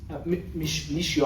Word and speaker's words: Michio: Michio.